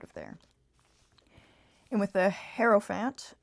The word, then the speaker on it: Hierophant: And with the Hierophant, I think that's how you pronounce it, sorry. Or Merophant? I don't know. The Hierophant, I'm pretty sure. Hero. Yeah, Hierophant.